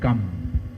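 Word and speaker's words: กรรม: In Thai language, we simply say gam.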